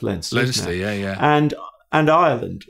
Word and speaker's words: Leinster: wing or center for i read that as leicester forgive my english eyes leinster it is pronounced lenses yeah yeah and and